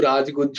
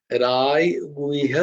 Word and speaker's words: রাজগুহ্য: বারবার তোমাদের বলি যে এই জায়গাটা খেয়াল রাখবে যে যখন বাংলা উচ্চারণ হবে তখন কিন্তু রাজগুচ্ছ যোগই হবে, কিন্তু ওইটাই যখন সংস্কৃত উচ্চারণ হবে তখন কিন্তু রায় গুহ্যা যোগ।